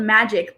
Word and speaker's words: Magyk: Yeah, it's called Magic, but it's spelled Magyk because I don't think I knew them.